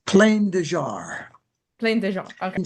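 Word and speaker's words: Plain des Jarres: Is it plain de jar? What, how do you say that? Because I said it wrong. Is it's it plain de French. jar? It's plain de jar.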